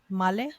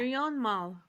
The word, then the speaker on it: Mirion Malle: Male? Well, she's European. I think she's She's French. French. Yeah, I don't French know how to Canadian. pronounce that. Mirion Malle.